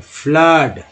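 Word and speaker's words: flood: Bing तो है, जैसे एफ L double O डी क्या उच्चारण रहा डबल ओ का आ के रूप में, फ्लड है ना।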